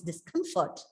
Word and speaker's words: discomfort: comfortably huh this discomfort see normally when we uh write this word we have a tendency to pronounce this what is discomfort right it's wrong it's discomfort discomfort because the stress is always on the particular syllable in which the root word is pronounced and then we saw